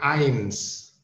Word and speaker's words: eins: Oke, 1 itu bacanya eins. Tadi ingat ya, EI dibaca dengan AI. Jadi eins.